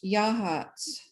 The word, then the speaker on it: Yachats: It's pronounced Yahats.